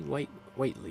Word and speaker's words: Whiteley: Is that how you say Whiteley? Not Whitley? Whiteley is probably how you say his name.